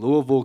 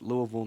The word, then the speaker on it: Louisville: six weeks down in Louisville Kentucky it is pronounced Louisville not Louisville I learned that very